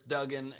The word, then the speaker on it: Duggan: Also, just wanted to make clear it's Duggan, and I only say that because it's one of the few things I pronounce properly.